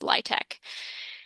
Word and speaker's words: LIHTC: the acronym or LIHTEC spelled out l i h t c, but pronounced LIHTEC.